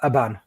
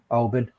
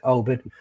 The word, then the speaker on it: Oban: Is it Alban? Oban. Oh, there you go, Oban.